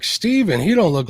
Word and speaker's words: Stephen: Everybody calls me Stephen now because it's spelled the same way. But it's actually really Steven, but just depending on that's a good name.